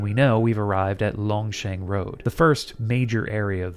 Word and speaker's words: Longcheng Road: It's actually pronounced Longsheng Road.